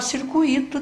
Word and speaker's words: circuito: Vai ter que falar circuito também, não é? Porque essa palavra, que a pronúncia correta é gratuito, esse tui é uma sílaba só.